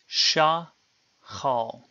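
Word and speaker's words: שחל: The word is divided into two syllables. Remember that each syllable must begin with a consonant and have one and only one vowel. This means that sha must be the first syllable. Because it ends in a vowel, this is a CV, consonant vowel pattern, an open syllable.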